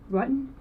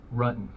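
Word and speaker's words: Ruetten: John Rutten? Rutan. The investigators already knew how to say John Rutten's name correctly. The mispronunciation was a simple strategy to see how the suspect would react.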